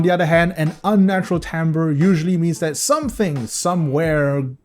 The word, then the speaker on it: timbre: And finally, uh this word, which seems like it is pronounced timber, but actually is pronounced timbre. Blame the French.